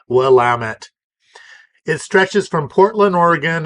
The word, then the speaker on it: Willamette: Northwest of the United States and yes is pronounced willamet it stretches from Portland Oregon in the north